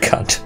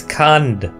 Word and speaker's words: Kand: Not Kant. Sorry. Go north around Mount Kand along the north. The A is pronounced A in German. So this is Kand, you know, with a D.